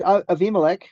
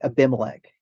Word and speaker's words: Avimelech: And Avimelech, if you're looking at like an English version, it would say Abimelech, okay? But correct, correct pronunciation on a bait in this would be vate, V, like a V sound.